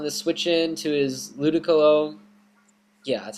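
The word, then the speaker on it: Ludicolo: the Thunderbolt on the switch in to his ludiculo yeah that's how you pronounce that and it has pretty much nothing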